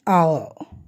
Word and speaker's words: hour: An hour. It is used like that because we all know H is silent and the first letter begins with O.